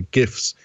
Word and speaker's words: GIFs: And it allows you to not only save the videos as videos, but also as animated GIFs or GIFs, depending on your regional pronunciation.